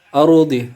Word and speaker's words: الأرض: Ardi ra sukun setelah sebelumnya berharokat atas atau berbaris fathah, maka hukum bacanya menjadi ra tafkim atau ra tebal, maka harus dibaca tebal.